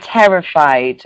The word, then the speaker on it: terrified: to make sure that we pronounce the d sound on the end and Kevin yes terrified